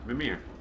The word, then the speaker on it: Mimir: Mimir.